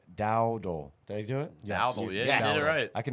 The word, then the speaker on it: Dowdle: Dowdle, yeah, Yes.